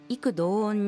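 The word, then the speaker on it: 異口同音: 口は「く」と読むので注意です。彼らは異口同音に「犯人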